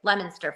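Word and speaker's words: Leominster: and then go like cuz he was like pronouncing every town and city in Massachusetts like Lemonster for example.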